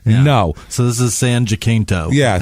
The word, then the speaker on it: San Jacinto: It was a junior college called San Jacinto College in Texas.